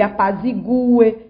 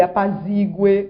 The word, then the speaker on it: apazigue: Que ele apazigue e não que ele apazigue, como nós escutamos.